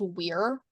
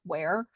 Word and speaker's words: Weir: That's usually pronounced Weir. I can think of only one other person who outside of that family I've ever known to pronounce Weir, like where.